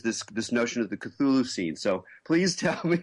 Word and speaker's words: Cthulhu: thulu c t hu l hu uh is pronounced cthulu.